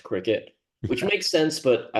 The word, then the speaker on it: Cricut: But regardless, I pronounced that way for like a solid year until I heard it was actually pronounced cricket, which makes sense, but I like my way better.